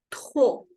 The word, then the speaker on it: trop: C'est elle mange trop. La P no suena. Y la R hay que pronunciarla con la garganta. Trop. Que se escuche fuerte.